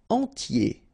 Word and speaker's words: entier: Entier. So remember, I-E-R, y, okay, and then the T, tier, and the nasal before, en, entier.